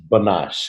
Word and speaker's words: Banach: How do we pronounce his last name? Banach? Banash.